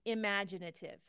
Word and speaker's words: imaginative: Creative which would be imaginative imaginative imaginative no this one notice imaginative I put the a right here that's our accent which means this T is now pronounced as a t again whether it's so